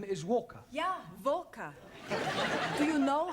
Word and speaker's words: Walker: slave dri at is vka Walker what w is pronounced W your employer's name is Walker yeah vka do you